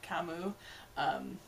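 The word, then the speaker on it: Camus: member of Poison Kiss, Kamu, which apparently has a silent S at the end of his name, but it sounds like they're pronouncing it Kamu.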